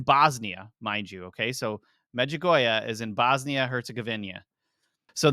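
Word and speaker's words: Medjugorje: it's called The Miracle of the sun in magoya I actually pronounced that correctly I looked up the pronunciation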